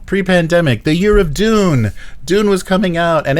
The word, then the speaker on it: Dune: Dune not Dune yeah everybody thinks I'm saying Doom when I say Dune I have to say I have to do the more British Dune the more British pronunciation say Frank Herbert's dune